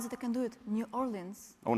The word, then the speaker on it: New Orleans: Good morning, Nolins. Nobody said it like that. Hello. Yeah, that's the way you really say it is Nolins, by the way.